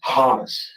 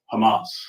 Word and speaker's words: Hamas: Hamus. Hamas.